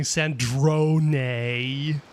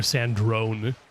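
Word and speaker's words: Sandrone: Sandron. I swear everybody was calling her Sand Drone before someone actually pronounced it in game. Does nobody know how to pronounce Italian or something?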